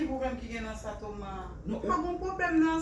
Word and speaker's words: Thomas: Alors, si tu veux parler en français, tu pourrais dire Thomas. T-H-O-M-A-S. And if you prefer English, you say Thomas. T-H-O-M-A-S. Prononcer S là.